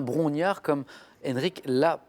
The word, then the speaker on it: Brongniart: la bourse de paris parce que l'on entend parfois brogniart mais ce qui est bien brongniart comme enrique la prononcer